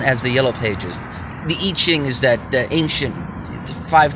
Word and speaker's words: I Ching: is as common as the yellow pages the eaching is that the ancient five thousand-year-old Chinese book the Oracle write it you spell it I I Ching but it's pronounced eaching it's kind of interesting topic interesting book to